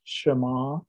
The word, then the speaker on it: Shema: deuteronomy 6 verse 4 is properly pronounced shema okay and you will hear this if you